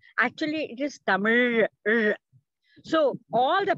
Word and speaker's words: Tamil: Because many people say Tamil. Actually, it is Tamil. So all the pronunciation also comes with the mother tongue.